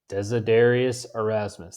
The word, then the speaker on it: Desiderius Erasmus: all right so northern renaissance important people right desiderius erasmus desedarius erasmus that is how you say his name he's